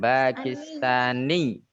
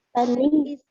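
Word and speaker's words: باكستانيّ: Ditekan ya. Di sini ada penekanan. Ya, tasdid, kemudian dia berada di akhir kata, maka kita bacanya ditekan. Pakistani. Pakistani.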